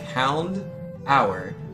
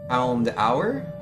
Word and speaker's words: Houndour: Has a closer sound to door. But in the anime they say it as Hound Hour, so people assume that's how it's said. Oh, rip. Yeah, I've always said Houndour, like just like the door that you knock on, but you got me, man.